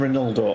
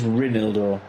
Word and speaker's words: Reinildo: How do you say his name? Because he just called him Reinaldo. I'm saying Reinaldo. So didn't need the trainer on, but stopped the break. That's what you call experience. Reinildo. Reinildo. It is Reinildo.